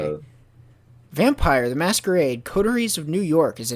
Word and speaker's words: Coteries: So when I hear people say it, it sounds like they're saying Corderies, but it's Coteries of New York.